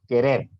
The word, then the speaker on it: querer: la última querer querer si se dan cuenta querer no lleva tilde pero si tiene este más enfatizada la última sílaba querer aunque existen reglas que